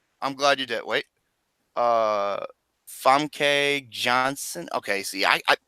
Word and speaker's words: Famke: Famke Johnson. Okay, see, I it's hard to pronounce her name. It's Famke.